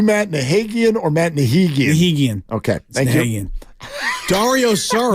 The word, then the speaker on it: Nahigian: Nahigian. Okay. Thank you. Dario Saric. No wonder you never call me. I've been calling you Nahagian.